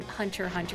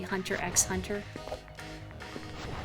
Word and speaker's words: Hunter x Hunter: it bisy like that Hunter Hunter lady bisy you know I've I've never I've never seen Hunter Hunter it's pronounced like that right you don't say Hunter x Hunter I've heard it's good